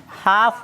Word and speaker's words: half: उसके बाद देखो ये कौन सी है हाफ है, क्या है इसमें भी एल क्या है साइलेंट है, क्या है साइलेंट है यानी चुप है।